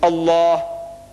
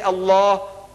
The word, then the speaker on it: Allah: and make an effort it is not it's Allah not Al is Allah say Allah Allah so when I made this look here it